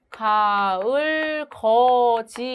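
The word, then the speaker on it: 가을걷이: 자, 가을 거지의 경우에는 가을 거지 이렇게 발음이 되는데 디귿하고 뒤에 전미사 이가 만나면서 거지로 발음되는 구개음화밖에 일어나지 않습니다.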